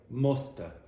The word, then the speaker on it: must have: Must Yeah, I want you to start getting into the habit of saying musta.